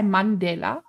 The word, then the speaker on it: Mandela: No, Winnie Mandela, you've pronounced it right. We just say Mandela.